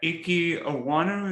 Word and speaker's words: Ekwonu: Travon Walker, the Georgia pass rusher, Yeah, Evan Neal, and Ekwonu. Is that how you pronounce his name?